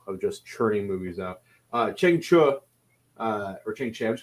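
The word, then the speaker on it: Chang Cheh: Chang Che's name is pronounced Cheng Chu, which I did not know that. But listening to special features, it's pronounced Cheng Chu.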